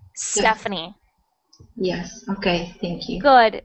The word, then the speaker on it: Stephanie: said now is good just starting with the s not the e so stephanie yes okay thank you